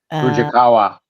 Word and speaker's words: Fujikawa: Fujikawa.